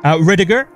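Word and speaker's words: Rydyger: Riediger. So that's another interesting story because it's German.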